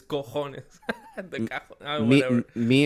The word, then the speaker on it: cojones: You say cajones, it's cojones.